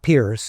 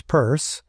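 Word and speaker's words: Peirce: It's he it's it's spelled with EI, not IE. It's not Pierce, it's Purse. Um, so it's one of those it's one of those exceptions to the I before E.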